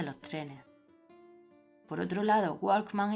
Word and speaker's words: Walkman: Por otro lado, Walkman y Kiwi conservan la W, la cual se pronuncia como en inglés.